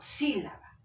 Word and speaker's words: sílaba: Yo no digo sílaba o sílaba, digo sílaba. Acá la fuerza de voz está en sí.